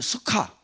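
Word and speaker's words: סוכה: 숫곳이란 그 단어에 우리 한글로는 숫곳으로 있는데 그 원어 발음이 수카, 숫곳.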